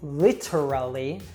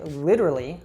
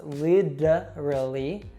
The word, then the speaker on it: literally: So we usually don't say literally, we'll say literally with that American T we saw earlier, so it's literally, or we'll even reduce it so it becomes literally.